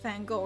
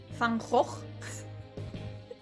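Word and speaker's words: Van Gogh: it's like a so everyone thinks like uh you know the painter fan go it's not actually pronounced fan go it's actually like fangrock how does that make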